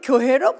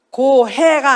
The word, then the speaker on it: 교회: 자, 하나님이 우리 예수 믿는 자에게 성령을 보내주시고 또 그런 자들을 교회로 불러 모셨어요. 교회 해보세요. 어디로? 발음을 잘하라고 그래서 어디로? 고해가 아니라 망망대해 고해가 아니라 교회로 불러오셨어요.